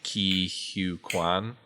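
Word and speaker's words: Ke Huy Quan: It does look like some exciting news, semi-related to Marvel, is that there's a new Indiana Jones series coming, and Ki Hu Kwan, I believe is how you say it.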